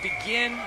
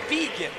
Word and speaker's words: Begin: I have been calling him Charlie Begin, but I'm going to begin to call him Charlie Vegan because his mom told me last night that's how you pronounce it.